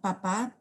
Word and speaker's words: papá: in Spanish, just because some words can be, whether it has an accent or not, it'll be pronounced differently. So like papa, like dad, father, is like with an accent, and then like papa, like it's potato.